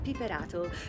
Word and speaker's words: Piperato: My name is Piperato, or as the Italians would pronounce it, Piperato.